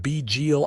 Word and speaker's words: Bidziel: She pronounced it begil Az with a softness to the syllables that made them sound like music.